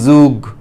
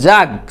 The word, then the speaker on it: jug: না যে MUG মুগ, JUG যুগ, ওরকম না, JUG জাগ চলে গেল, আর MUG মাগ,